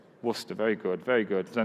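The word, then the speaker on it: Worcester: sort of logic another one one 2 3 Worster very good very good so now we're going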